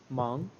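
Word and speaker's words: 忙: who is busy and in Chinese we pronounce it like mang and then go on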